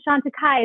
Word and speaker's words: Chantecaille: stores and they're like do you have shanta kai oh you have shanta kai they know how to say the name they know how to